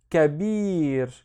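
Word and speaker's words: كبير: The first syllable is ka. The second syllable is bir. So kabir, which means big, masculine.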